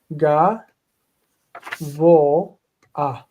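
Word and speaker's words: גבוה: Ga, vo, a. So it's ga, vo, and the a right there goes before the hey. The hey is a real hey, and it's just there for pronunciation.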